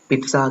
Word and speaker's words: pizza: නමුත් අපි හරිනම් එක sound කරන්න ඕනේ, pronounce කරන්න ඕනේ pizza කියලා T අකුරත් එක්ක.